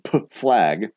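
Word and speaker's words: PFLAG: What does the P in P flag stand for? That's how it's pronounced.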